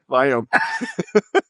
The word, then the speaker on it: Viome: It's Viome with the V, Victor, Viome.